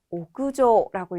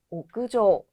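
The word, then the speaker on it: 屋上: 자, 오구라고 읽을 때 뒤에 상자랑 붙었을 때는요. 옥상의 뜻으로 오구조라고 있습니다. 옥상은 오구조.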